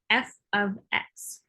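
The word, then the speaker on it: f(x): place that y normally is and this is pronounced f of x um so when you see y in an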